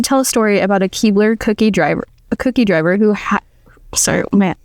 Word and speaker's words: Keebler: There's Keebler or okay, so Keebler. Keebler. So he likes to tell a story about a Keebler cookie driver who sorry, man, contacts are getting blurry.